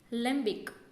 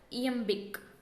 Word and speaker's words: iambic: First one, lembic. It is not lembic but iambic. It is I.